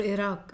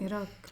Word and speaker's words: Iraq: or Iran or Iraq and Iraq. No, between Iraq and Kuwait. Iraq, not Iraq. Wrong pronunciation. Iraq and Kuwait.